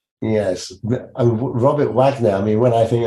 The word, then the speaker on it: Robert Waggoner: we have Robert Wagner is how am I pronouncing that right Robert Wagner yes Robert Wagner I mean when I think I'm straight away